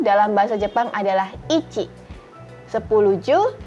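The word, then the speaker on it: いち: Ya teman-teman lihat di tabel di sini ada angka, kemudian kanjinya, kemudian ada romajinya atau cara bacanya dalam huruf alfabet. Kita mulai dari angka 1. Angka 1 kita baca ichi.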